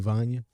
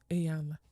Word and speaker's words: Iyanla: when a woman was talking to Ivania. Or how you say her name? Iyanla. Iyanla, whatever. Iyanla.